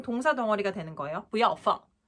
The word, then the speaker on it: 不要: 不要 마치 산을 타듯이 부 올라가셨다가 要 내려가셔야지 정확한 발음이 돼요.